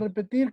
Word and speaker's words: repetir: A ver, su compañera Nisa, la palabra a repetir, ¿cómo queda? Repetir. Y la Y sílaba pues las tónica, tir.